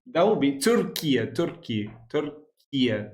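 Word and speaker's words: Türkiye: Turia, that's how you pronounce it.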